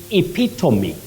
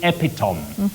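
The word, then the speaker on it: epitome: in marsabit you say epitomy bet this is a tricky word many people find themselves saying epom epom no you say epitomy epom an epitomy not epitom and you say albe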